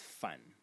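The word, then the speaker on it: 反: And the semantic element in this character is this one over here, which is pronounced fan in the third tone, and it means to sort of to turn over, to flip.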